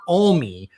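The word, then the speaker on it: Alme: I said M and someone from Montana corrected me. It's Kurt Oie had filed and we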